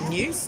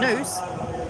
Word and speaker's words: noose: was a hangman's new news no it wasn't it was a noose uh to rhyme with moose like canada's national last